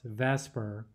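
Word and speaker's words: VSEPR: is vs epr and that's typically pronounced vesper even though that's not exactly how it's spelled okay so the main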